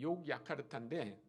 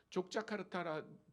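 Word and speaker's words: Yogyakarta: 보이시나요 욕야카르타 도시 근데 그 원래 도시 이름이 욕야카르타 아 네덜란드 사람들이이 스펠링을 가르쳐 준 거예요 근데 아마 네덜란드 사람들은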